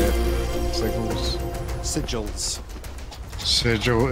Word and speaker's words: sigils: you say it Sig sigils sigil it's pronounced with a j sigils yeah that sounds right